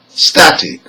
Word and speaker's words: static: Now here, words that are ending in IC, SION and TION have the stressed syllable, the second syllable from the end. Let's hear some examples. Number 1, static.